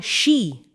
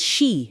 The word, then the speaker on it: Sidhe: Kami ang she pronounces she.